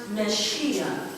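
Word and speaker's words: Mashiach: It's a Hebrew word, pronounced Meshiach.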